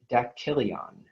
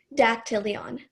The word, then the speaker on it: dactylion: Okay, your word is dactylion. Can I have the word one more time? Dactylion. Dactylion. Can I have the definition, please? Tip of the middle finger. Dactylion.